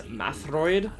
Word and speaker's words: Metroid: just interesting points to mention number one they pronounce Metroid as matroid in trozo for some reason not really sure